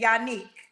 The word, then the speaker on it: Yannick: Yannick is how you say it. Yannick. That's correct.